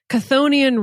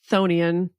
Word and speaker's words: Chthonian: it's actually pronounced Chthonian. The CH is silent.